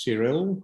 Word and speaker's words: Cyril: once again hi everyone my name is cyril i prefer to pronounce my name in english manner and i would say